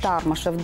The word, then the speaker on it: Тармашев: вот очень многие спрашивают как правильно ставить ударение он всегда тармашев до вышла на последние